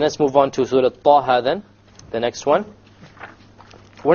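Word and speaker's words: طه: Okay, both of them are two harakas long. So we pronounce it Taha, Taha. If we were to make it longer, it's a mistake. Ta or Taha, mistake. Each one has to be two harakas.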